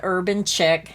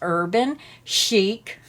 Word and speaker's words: Urban Chic: Now I called it Urban Chic and I was told it's pronounced Urban Chic.